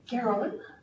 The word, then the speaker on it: Garonne: So the Garonne, is that how you say it?